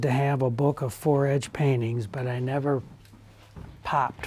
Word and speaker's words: fore-edge: things he collected were Fore-edge, and that's spelled F-O-R-E, for like before.